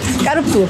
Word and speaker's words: Carrefour: [La prononciation originale est bizarre.] On ne prononce pas le « e » du milieu . Kkkkkkpou. On dit Carrefour.